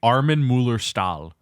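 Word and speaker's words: Armin Mueller-Stahl: name is actually I his name is actually Arman Muller stall Arman Muller stall that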